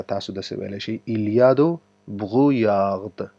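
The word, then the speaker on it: brouillard: داسې ویلی شئ ایلیادو بغویاغد. دا داسې تلفظ کېږي بغویاغ. صحیح دی؟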